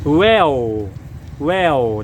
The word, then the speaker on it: Whale: ก็ คือ วาน หา ร้าน วาฬ หรือ ว่า ออก เสียง ภาษา อังกฤษ ว่า Well Well นะ ฮะ มี สาขา